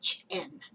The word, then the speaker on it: Siobhan: writer _ and then she gives the phonetic pronunciation SHIVAHN.